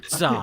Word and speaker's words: Tza: Yeah, Zah. He is silent. TZA. It would be pronounced like Zar. Zah.